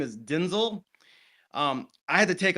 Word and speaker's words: Denzel: I did watch an interview and he in fact said that the the correct pronunciation of his name is Denzel.